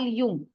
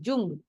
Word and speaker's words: Jung: in the class one of the classes call Yung so one of the boys said ma'am you are speaking wrong it is Jung j u n g now that word is